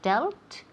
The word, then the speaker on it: dealt: pasado what we say dealt excellent great pronunciation for Marina so the past of deal is doubt doubt it rhymes with belt belt so delt belt okay but be